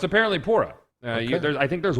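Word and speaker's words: Purah: way it is they they pronounce it poora in-game not Pera oh it's not Pera okay no it's apparently poorer yeah there's I think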